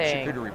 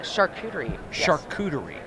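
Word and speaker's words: charcuterie: what makes a great shuie board am I saying it right yeah shuie shery yes okay I am you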